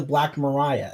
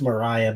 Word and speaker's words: Black Maria: that's that is the black mariah everyone is like black maria it's pronounced mariah believe it or not